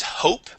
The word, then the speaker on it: hope: next word is is Hope okay uh this is going to have a long that long o sound and o sound instead